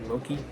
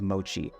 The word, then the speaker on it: mochi: It took me coming to Japan to realize it's not pronounced Moki. At the Asakusa market, I stopped by a sweet-smelling stand for a sugar-dusted ball of mochi, and it was, as you might expect, decadent.